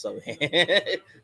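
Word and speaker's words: Sochan: It's pronounced so hand.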